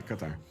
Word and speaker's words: Qatar: The proper or the Arab pronunciation is a little difficult to. It's got two. It's got two of the weird ones. It's got the qa and the ta.